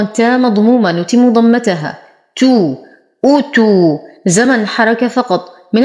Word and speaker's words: أوتوا: تو، أوتوا، زمن حركة فقط. من الأخطاء الشائعة أن يقال أوتوا وهذا خطأ، أو يقال أتوا والهمزة مضمومة وليست مفتوحة. أوتوا. لدينا واو ساكنة ما قبلها مضموم فهو من الطبيعي حركتين.